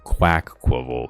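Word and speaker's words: Quaxly: to kill time and is it qu qual qu quav it's quack qual is the official pronunciation quack get a rare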